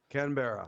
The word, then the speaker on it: Canberra: Canberra.